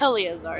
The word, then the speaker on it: Eleazar: Eleazar is how you say that.